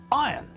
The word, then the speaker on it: iron: is pronounced tongue not bong goo iron is pronounced iron not iron Jeremy Irons name is pronounced Jeremy